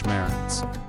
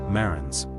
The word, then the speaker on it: Marans: The correct term is always Marans, with the plural form in mind. Another thing to note when pronouncing the name is that the S at the end of Marans is silent.